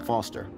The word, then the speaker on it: Foster: pickle so it does i'm foster i'll remember that easy because your name rhymes with fossil and you're old wow